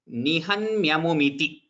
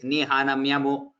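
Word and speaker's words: निहन्म्यामुम्: You heard that Noonam Vishturiti Nihanmyamumiti. What the participant is saying is Nihanamyamu. So those places, Nihanmyamum is Hanmyamum is not an easy word to pronounce.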